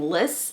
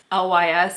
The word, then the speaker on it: LYS: I was saying Liss, it is LYS, and I got a